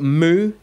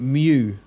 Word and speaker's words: mu: let then we've got mu some people to pronounce it mu I leave that up to you how you want to say it mu or mu and that's an M sound as in meth okay so when you